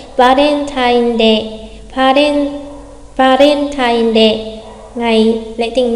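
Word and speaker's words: バレンタインデー: đọc giống nhau, cho nên bạn có thể đọc lái hẳn sang chữ vờ là va thay vì là ba, được không đọc quá rõ là Valentine mà là Valen, kiểu lái chữ vờ ấy.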